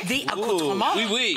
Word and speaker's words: accoutrements: Oh, accoutrement. The accoutrement. Oui, oui. I said that off camera and she was like, you should say it like that. Because she said it so beautifully.